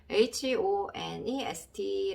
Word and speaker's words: honest: honest 라는 단어가 있고요. 처음에 나오는 H는 묵음인 경우가 많다. 그러면 H 밑에 흐흐 해서 지금까지 공부했던 히읗 발음을 적고 싶지만 여기서는 묵음이라고 해서 소리가 안 나겠습니다.